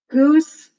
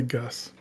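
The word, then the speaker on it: Ghüs: the babysitter it's got goose and the that walrus thing he hangs out with bro yeah I guess it would be pronounced Goose wouldn't it I always say Gus yeah it's got that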